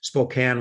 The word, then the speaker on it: Spokane: location of Spokane Washington Spokane I should pronounce it the American way Spokane Washington so David Thompson